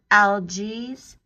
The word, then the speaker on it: Algiz: Algiz, it's spelled Algiz, the letter Z.